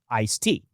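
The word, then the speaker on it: ISTEA: And the answer arrived in 1991 through the Intermoal Surface Transportation Efficiency Act, usually called ISTa or pronounced ice tea, because apparently Congress decided transportation legislation needed a refreshing beverage.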